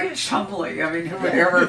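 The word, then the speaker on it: Cholmondeley: So is it actually pronounced Ford, or is there some complex English pronunciation that we just don't know? Ford. There are It's a like few- Chumley.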